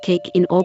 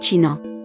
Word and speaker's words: China: The ch is pronounced as the ich sound, not the one in Scottish loch, and was sometimes used word initially in old forms of German. In these word initial positions, it was eventually replaced by k, leading to a frequent mispronunciation of China as Kina rather than China.